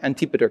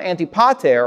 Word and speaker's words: Antipater: after having his son antipater kill so his son auntie pater or antipater you can pronounce it either way he killed he had